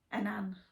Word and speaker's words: Annan: Now, my Auntie Liz says I'm saying it wrong, but I can't remember how she pronounced it. So let's see how you think it should be pronounced. Annan. Annan. That's what she said.